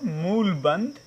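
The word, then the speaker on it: mula bandha: mull mulban get applied what you call mula banda the correct pronunciation mulband will be applied so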